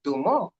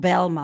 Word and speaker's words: Bilma: Bilma, not Belma, yeah, Bilma. Bilma. Bilma, Okay. yes, So B-I. we've actually been spelling it wrong.